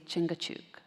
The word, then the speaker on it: Chingachgook: I said, actually, you say Chingachgook. That's his name.